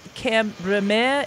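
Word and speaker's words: Cambremer: the cheese camembert but there is a town that is kind of spelled like camembert but it's cameraman it's see am b r e m ER and that's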